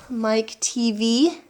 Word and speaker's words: Mike TV: cool you have to look at how TV is spelled Mike TV and when you say it out loud it sounds like a TV set so it's very clever